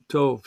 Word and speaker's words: Tov: Tov. So, but I grew up saying the long O's, low Tov.